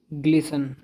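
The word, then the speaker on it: glisten: चलना ग्लिमर जगमगाना टिमटिमाना इसमें T silent है यह है ग्लिसन ग्लिसन चमकना गीली सतह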